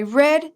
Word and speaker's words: read: present simple right now watch the different pronunciation in the the past for this word very important I read that book last year it's the pronunciation the same for the color red I read I read okay great now let's